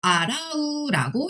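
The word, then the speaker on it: 洗う: 그 다음에 씻다는 맞아요. 아라우라고 읽습니다.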